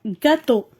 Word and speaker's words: gâteau: Alors, gâteau. J'entends G. Gâteau.